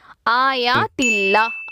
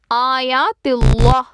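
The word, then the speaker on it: آيات الله: கீழ ஜேர் இருக்கு சோ இதை நான் மெல்லினமா உச்சரிக்கும் போது ஆயாத்தில்லா அப்படின்னு உச்சரிக்கிறேன் இதை நான் எப்படி உச்சரிக்க கூடாதுன்னா ஆயாத்தில்லா இந்த மாதிரி நான் வாய் நிறமா உச்சரிச்சா அது வல்லினமா மாறிடும் சோ அது தவறு செகண்ட் எக்ஸாம்பிள் மின் தூனிஹி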